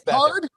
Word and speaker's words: Beathard: I don't want to be the guy who mispronounced it. Oh, you did. It's Beathard.